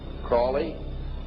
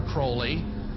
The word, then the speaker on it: Crowley: learned about was Alistair Crawley he likes to have his name pronounced Crowley to rhyme with holy and uh the Satanist